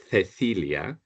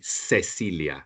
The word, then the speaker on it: Cecilia: Okay, so in Spanish we say Cecilia, Cecilia. We say the Cecilia. In South America they would say Cecilia, like an S sound.